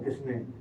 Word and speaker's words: Quesnay: Usted como profesora de francés me puede decir, ¿Quesnay no es o Quesnay?